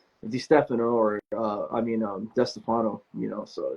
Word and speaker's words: DeStefano: watching D Stefano I know you pronounced your last name differently go how how do you say L I say desano but my family back east in Brooklyn and and New Jersey is like it's D Stefano and I'm like